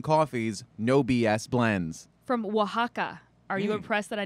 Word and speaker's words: Oaxaca: 100 single origin coffees no bs blends from oaxaca are you impressed that i knew how to pronounce that yeah that's yeah that's right that's